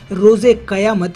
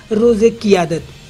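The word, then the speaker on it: روزِ قیامت: राष्ट्रपति ममनून हुसैन ने रोजे कयामत यानी फैसले का दिन कहा, तो इमरान ने इसे ठीक से नहीं सुना और इसका गलत उच्चारण कर दिया। इमरान ने कहा रोजे कियादत यानी नेतृत्व का दिन।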